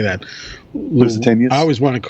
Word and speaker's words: Lusitanias: Lusitanias? I always want to call, yes, Lusitanias.